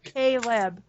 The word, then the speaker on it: Kleb: That's how I pronounce it, even though it's Kleb. Because I looked at that and I'm like, how would I say that? And I'm like, Caleb.